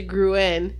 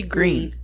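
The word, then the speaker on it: Gruene: e and E Gunter I used to pronounce they grew in but it's actually green yeah it's because I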